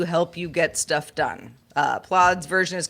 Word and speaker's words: Plaud: So Plod, I guess rhymes with Claude.